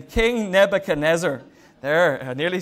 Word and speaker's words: Nebuchadnezzar: it it and no that was hoping to pronounce his name king nebuchadnezzar there nearly said it right the first time